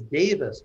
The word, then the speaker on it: Davis: And I actually picked this because I was intrigued, because Davis, pronounced just like that, means God in Sanskrit.